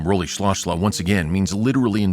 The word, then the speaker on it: Rolihlahla: Nelson Rolihlahla Mandela, or even pronounced more closely in the tribe of his people would be Nelson Rolihlahla Mandela.